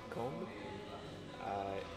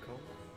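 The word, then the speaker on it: Cambes: But yeah, where I was staying actually in Combe. It's spelled C-A-M-B-E-S, Okay.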